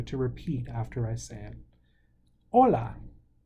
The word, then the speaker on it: hola: repeat after I sand hola hola the H is silent adios adios hola adios